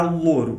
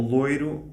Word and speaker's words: louro: As for louro or loiro, I think that we speak the same way as you, that is, we say louro for the bay leaf and loiro for the color of a person's hair.